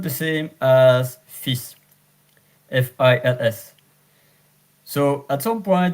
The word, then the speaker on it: fils: Je vous présente ma fille, mon fils. So, as you notice, there are some words that are pronounced at the end with silence. But here, fils is an exception.